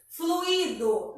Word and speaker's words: fluido: A palavra fluido. Percebe que o i, a gente fala separado do fluido. Então, fica fluido. A gente tem aí um hiato. O u e o i se separam, tá?